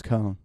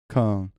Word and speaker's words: Köln: The German word for Cologne is Köln.